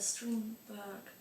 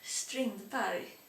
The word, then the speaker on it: Strindberg: And so that one, and what's it called, the Strindberg play, God, I pronounced it English, Strindberg it's called actually.